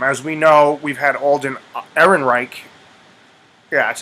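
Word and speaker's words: Alden Ehrenreich: Han Solo film as we know we've had alen Erin Reich yeah that's how you pronounce his name alen eron Reich um who was in Hell Caesar uh he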